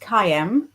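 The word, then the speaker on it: caim: Oh, so Lucenne says the word came pronounced cayam.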